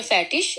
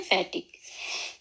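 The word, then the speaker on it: fettig: आगे है इट, इसकी आवाज हम लोग इश की भी होती है, शीन की भी, और बाज दफा इसको गाफ की भी आवाज निकलती है। जैसे उनके मिसाल के तौर पर फैटिश, और कई लोग इसको पढ़ते हैं फैटिक, फैटिक और फैटिश।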